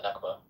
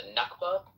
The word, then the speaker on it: Nakba: uh in in Palestine for the Nakba.